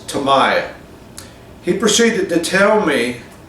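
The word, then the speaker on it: Tamiya: What I was getting at uh is that how I pronounce Tamaya. He proceeded to tell me that in Japan, the MI in there, the I in Japan is pronounced like a long e.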